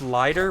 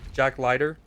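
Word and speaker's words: Leiter: Pronounced lighter. What did I say? Lighter. Lighter. Jack Lighter.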